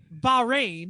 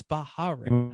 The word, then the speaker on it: Bahrain: Formula One testing has wrapped up in Bahrain, because I think it's only 2 syllables. I don't think it's Bahrain. Much. I know you said it right.